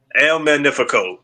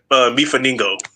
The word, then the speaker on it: El Magnico: El El Magnico. El Magnico. Okay. Okay. I keep saying Meaningo. That's That's way off.